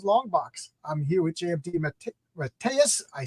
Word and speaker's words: DeMatteis: welcome to John's longbox I'm here with jmd M matus I said your name wrong last time and I had to practice